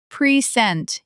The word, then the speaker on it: present: In our record, the second syllable chord is still clear, but in present, the first syllable becomes almost swallowed. Present, you barely hear the first vowel.